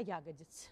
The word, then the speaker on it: ягодиц: из интернета меня унижает правильно говорить не ягодиц а ягодиц Вот теперь можете репостить